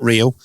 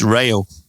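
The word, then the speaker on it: Reo: He said it's not Rio, as in the Duran Duran song. It's Rayo.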